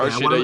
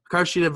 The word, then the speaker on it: Hikaru Shida: So Hikaru Shida, am I pronouncing that right? Okay, Hikaru Shida, yep. Hikaru Shida versus Nyla Rose.